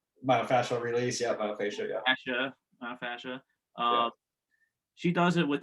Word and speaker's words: fascia: fascia right yep you're saying it right yep fascia that's like this it's surrounding the muscle right